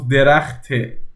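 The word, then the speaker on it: درختِ: And see the difference, derachte or khane. Derachte, khane. The khane goes really down, derachte goes this one down. Like if this is the middle ground, khane goes this much, derachte goes this much. It then comes up. Derachte man. Khane. See? So they are not the same, okay?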